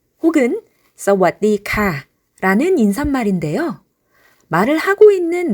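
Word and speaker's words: สวัสดีค่ะ: 남성은 물어보는 말, 대답하는 말 등을 구분하지 않고 크랍이라고 하는데 여성의 경우에 물어볼 때는 카 하고 음을 올려주고 대답하는 말, 설명하는 말 등에서는 카라고 음을 내려줍니다.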